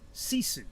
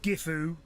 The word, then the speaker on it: GiFu: name capital g i capital f u right sisu is how you pronounce it see you soon okay it's a